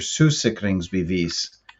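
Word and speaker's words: sygesikringsbevis: insurance card or your sue sickenings be these that's how they say it in danish uh this card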